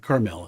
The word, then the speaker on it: Carmel: Carmel. It's called Caramel. Emphasis on the second.